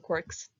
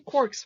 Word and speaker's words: quark: all beside the mark clearly joyce meant quark to rhyme with mark bark and park but gelman thought quark